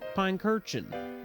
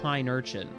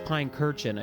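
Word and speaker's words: Pincurchin: here and I realized I always thought it was called Pine Urchin, but it's Pine Kurchin, I think. like pine cushion but urchin.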